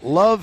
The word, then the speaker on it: LOVB: Introducing Love Houston. That's L-O-V-B Houston. The B is silent.